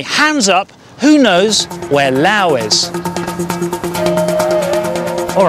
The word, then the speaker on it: Laos: up who knows where Lao is all right hands up who knew where Lao was last week maybe that's because Lao is spelled l a oos it looks like LA